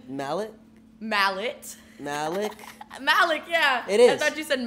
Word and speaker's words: Malecc: Malecc, yeah.